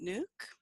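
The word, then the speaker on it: Nuuk: the city that you're living in is it nuke nuke good it's good to be here good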